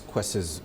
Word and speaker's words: Kwese: Kwese Media, am I pronouncing that right?